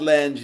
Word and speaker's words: Lange: So wait, your last name is Langen? Lange. You know what phalanges are? Yes, I do. Fingers. Fingers. That's bones in the fingers. Phalanges. So the Lange is helps to say my name.